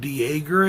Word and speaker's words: Dejager: Directed by Brett Dejager, I think is how it's pronounced, because it's D-E-J-A-G-E-R.